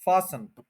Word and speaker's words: fasten: तो ये जो टी है, ये साइलेंट होता है, फासन, यानी फास के ऊपर आपने स्ट्रेस करना है और फिर अन जो है उस पर स्ट्रेस नहीं करना। फासन, फासन, बांध लेना। ये फैशन योर सीट बेल्ट अक्सर लिखा भी होता है, तो वो टी जो है साइलेंट है, फास्टन नहीं बोलेंगे।